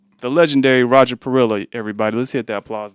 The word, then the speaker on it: Parrilla: Trillion R's, double L is a Y. But I grew up with my mother. Mhm. My mother doesn't speak Spanish. Okay. She's always pronounced it Parrilla, so that's how we cool.